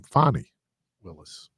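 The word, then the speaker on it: Fani Willis: and and yeah so and again let me pronounce her name fonnie Willis though they were wearing her out on on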